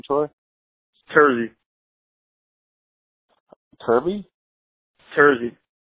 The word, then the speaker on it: Terzi: guest today Troy what's your last name Troy tury kby tury how do you spell that t e r z i t e r z i tery oh cool that Mak I couldn't understand it